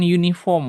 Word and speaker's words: uniform: The police officer was not wearing an uniform when she arrested the suspect. Kata bantunya mana nih? Ini dia. Uniform bacanya U. Jadi harusnya a uniform.